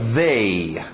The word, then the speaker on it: they: O último, TH de Zorba, they. They. Nada de they, não, é o Zorba, they.